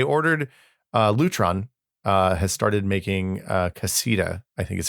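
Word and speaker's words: Caséta: I ordered Lutron has started making Casita, I think is how it's pronounced, light dimmers and switches that are compatible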